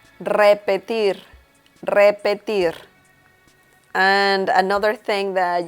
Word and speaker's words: repetir: and it is pronounced repetir repetier and another thing that you should pay attention to is that the last R is also pronounced a little strong so you say it